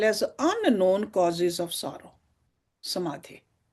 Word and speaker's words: samadhi: Samadhi. See samadhi sounds like rhymes with vyadhi.